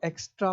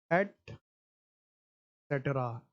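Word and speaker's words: et cetera: पांचों प्रोनाउंसिएशन गलत है। इसका जो शुद्ध प्रोनाउंसिएशन है वो है एट सेटरा।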